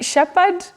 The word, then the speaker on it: shepherd: shepher or shepher Chung I think you should be Shepherd it's that shepher pad pad because that edge is silent shepher maanga thank you